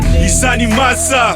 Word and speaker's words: Yisani Masa: Yisani Masa, hailing from Slum Town, but Bloem is where I lay my head down.